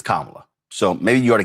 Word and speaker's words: Kamala: First of all, it's not Kamala, it's Kamala.